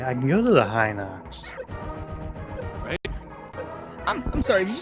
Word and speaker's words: Hinox: Jay's also playing a Zelda game and calls them Hinox. I also call them Hinox. Yeah, the No, you son of a gun! I mean, is this just 'cause the he pronounced it Japanese differently. pronunciation Hinoksu?